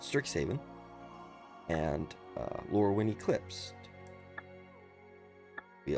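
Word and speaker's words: Strixhaven: I I never get that word right. I always say it like stricksen Haven or something like that, but Stricks Haven and uh Lurin Eclipse,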